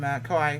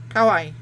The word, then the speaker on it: Kauai: We took off, of course, from Kauai, which is the other one.